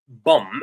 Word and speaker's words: bomb: I said is pronounced bum without the last b. So as you can see right here. So it's pronounced bum. Um right. You mean the B is silent. Exactly. The last B is silent.